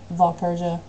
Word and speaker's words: Valeria: my name is unpronouncable if you want to pronounce it pronounce it Valeria um and I will